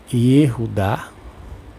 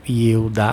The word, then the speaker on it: Yehudá: Teve que ser reconstruído a partir do hebraico bíblico, principalmente pelo trabalho do linguista chamado Yehudá, ou Yehudá, porque nem todos pronunciam o H com som de R, Ben Eliezer.